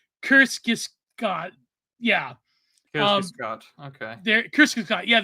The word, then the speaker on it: Kierkegaard: me that Kierkegaard, I can't pronounce that stupid Scandinavian name.